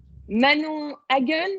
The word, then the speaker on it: Manon Hagen: Manon Hagen, c'est comme ça que ça se prononce?